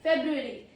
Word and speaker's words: February: Okay, February. The second month of the year is February. Pro tip is first R is often swallowed.